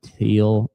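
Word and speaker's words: Thiel: uh Ken and Norma Teal. Teal Teal. T H I E L. Um, I know Peter Teal, the investor, tech guy, it's pronounced teal, spelled the same way.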